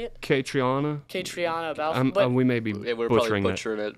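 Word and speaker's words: Caitriona: what's her name how do you say it Christina Christina how do you say it katriana katriana and we may be yeah whatever but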